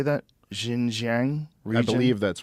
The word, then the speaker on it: Xinjiang: Xinjiang region?